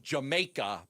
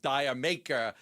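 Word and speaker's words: D'yer Mak'er: actually call it Jamaica, but the way they pronounce it with D maker.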